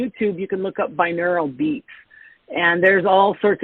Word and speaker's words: binaural: And I think there's also on like um Insight Timer, I think they also have binarial beats or how do you how do you say that word? Binaural.